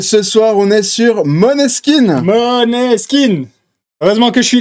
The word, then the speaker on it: Måneskin: Je vais continuer avec Maneskin. Alors qu'en effet, on prononce Måneskin.